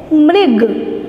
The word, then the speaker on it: मृग: फिर है मृग, किसका पिक्चर है ये, मृग, तो मृग कैसे लिखेंगे, म के नीचे मृग।